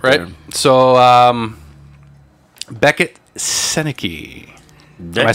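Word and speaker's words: Sennecke: that's hockey business right there so um Becket seneki am I saying it right seneki yes I heard that name before now I'm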